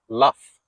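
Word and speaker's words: laugh: طيب تيجي بقى في كلمه تانية زي كلمه لاف، ما بقتش بي اتش، لا ده بقت جي اتش، برضه الجي اتش بيدوا لك الصوت بتاع حرف الاف، مع ان احنا اصلا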